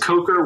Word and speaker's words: Kocher: It's Kocher. It's Kocher with like a hard K sound.